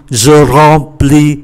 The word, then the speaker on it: remplis: Chúng ta để ý, ký tự em đứng trước P thì phát âm như là N. Do đó, chúng ta đọc là je remplis les rayons, remplis là làm cho nó đầy.